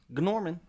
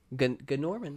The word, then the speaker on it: Gnorman: All right, so with me today is Adrian playing Gnorman. Gnorman, that's right.